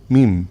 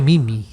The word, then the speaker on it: meme: meme, Mim. igual que Gene. Yo pensé que se decía Mimi. No, se pronuncia meme. Mim. Y Sí. si la segunda es silente. Es igual. Y suena igual que Gene.